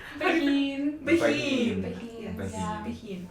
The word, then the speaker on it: Behin: That's not how you pronounce it. How do you pronounce it? Behin.